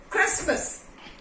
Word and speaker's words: Christmas: Christmas, T is silent over here.